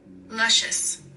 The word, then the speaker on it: Luscious: in here hookah loricious why do I have to use Google to figure out how to pronounce the name of the company luscious luscious my wishes like what the luscious